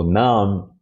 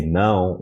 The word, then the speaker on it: nam: So nam, many of them wouldn't understand it. They would say não, which is no in Portuguese.